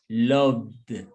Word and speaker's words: loved: So we pronounce in past tense these verbs with the sound of D at the end. Repeat D. Make the sound D. So we don't say loved, is loved. Repeat, loved.